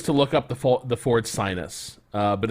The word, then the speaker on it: Synus: People told us to look up the Ford Sinus, but it's actually spelled like it's pronounced sinuous, but it is spelled SYNUS.